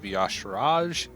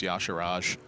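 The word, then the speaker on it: Y'Shaarj: But picks up Starfire and Mark of Yasharaj. Somehow pronounced Yasharaj. Yasharaj. That's actually correct. It's not Yashar. Yeah, well, there's a J on the end. It's a J silent.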